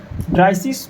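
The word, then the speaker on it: dreißig: ड्राइसिस बोलते हैं।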